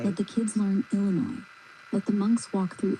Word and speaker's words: Illinois: And they know Illinois has 3 syllables, and the second is but the I at the end is oi.